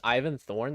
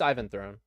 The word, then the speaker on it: Ivan Throne: Have I been reading that guy's name wrong this whole time? I thought the guy's name was Ivan Throne. Has it been Ivan Thorn this whole time? No, it's Ivan Throne.